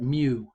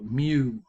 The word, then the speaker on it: mu: And that's how you say it, mu. It's pronounced like MYU, mu, right?